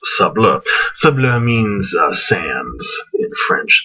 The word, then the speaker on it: Sables: Looks like Sables, like the fur, but is actually pronounced Sables.